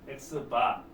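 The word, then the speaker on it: x̄: 어, 마찬가지로 요거 X 읽고 위에 바 읽으면 되거든요. 바 멀바 남은바라바 어 실컷바 등등 바로 끝나는 어 말기 놀이 이런 것도 재밌었는데 어쨌든 x바 x바는 n개 뽑은 표본들의 평균이다.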